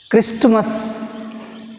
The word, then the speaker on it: Christmas: Next 45, Christmas. Not correct pronunciation.